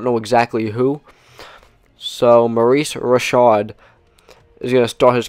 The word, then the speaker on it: Richard: created player Maurice Rashad and no it's not Richards like I thought my dad told me it's Rashad that's how it's pronounced and obviously we're picking the Montreal Canadians